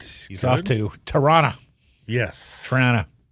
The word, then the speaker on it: Toronto: Yes, Trana. Yes. No O's.